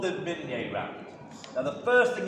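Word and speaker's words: Minié: So it's not the Minier round. If you're an English speaker, it's the mini round, or the mini ball. I don't know why they call it mini ball.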